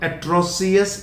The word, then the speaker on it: atrocious: Again, it is not atrocious, it is atrocious, atrocious, or not atrocious, atrocious.